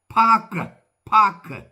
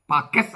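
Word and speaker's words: Pâques: French പാക്ക്. അതിന്റെ French PAQUES. അവസാനത്തത് ഉച്ചരിക്കില്ല. പാക്കസ് എന്നാണ് തോന്നുക, പക്ഷെ പാക്ക് എന്ന് ഉച്ചരിക്കുള്ളൂ.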